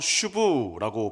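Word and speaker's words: שוב: 돌아오다 히브리어로 슈브라고 발음을 하는데요.이 돌아오다라는 단어가 굉장히 중요합니다.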